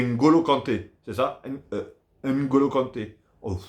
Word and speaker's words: N'Golo Kanté: Mais je crois que le N, si j'ai bien compris, le N il se prononce pas. C'est N'Golo Kanté.